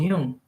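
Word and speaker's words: Jung: us this the concept of Yung yeah you pronounce him called Yung y okay in y Yung psychology animus is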